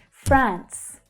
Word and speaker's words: France: France, France. Notice that it is an unvoiced S consonant sound at the end there.